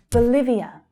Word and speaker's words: Bolivia: So again, there is a long vowel sound in the first syllable, but the second syllable is the stressed one. Bhutan, Bhutan. Bolivia, Bolivia.